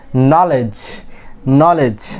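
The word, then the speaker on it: knowledge: নলেজ আমরা কি এখানে কি ডি এর প্রনাউন্সিয়েশন আমরা করি না, আমরা এখানে ডি প্রনাউন্স করি না, আমরা কি বলি এটাকে নলেজ, বিকজ এখানে কি ডি একটা সাইলেন্ট লেটার।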